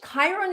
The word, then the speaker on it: Chiron: in in in Kyo Chiron is spelled with a CH sorry that's why I got confused so it spelled the CH not the K so Chiron is called